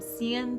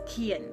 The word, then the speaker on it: Cian: And it's spelled with a C, so that's why anytime I see it spelled out, I always call him Cian, but it's Kian.